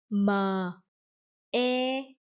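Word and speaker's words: mê: So m, e, me.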